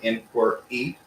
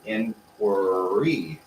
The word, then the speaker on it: inquiry: work in quer inquiry we kind of double the r sound to push into it so it doesn't make it hard to say we don't say inquiry we say inquiry inquiry see we push on the r the second time inquiry inquiry is the